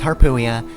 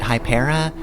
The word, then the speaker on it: Harpuia: It's Harpuia, but I always pronounced it hyper. I guess my child brain just like that more. Like it's supposed to be a play on harpy, but like I always